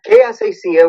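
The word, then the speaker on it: Que Así Sea: It's called Kaasasia, which means "May it be so," and the subtitle is "Puerto Rico Forward." There's a lot. I didn't realize at the time there were so many Kaasasia songs, or I might have just called it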